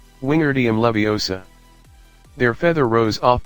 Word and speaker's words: Wingardium: having much more luck Wingardium Leviosa he shouted waving his long arms like a windmill you're saying it wrong Harry heard her my unnie snap its Wingardium Leviosa make the GAR nice and long you do it then